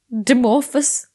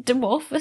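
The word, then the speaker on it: Dimorphos: greek less less so dimorphous demorphus the bbc say demorphus so i'm gonna stick with that involved as well but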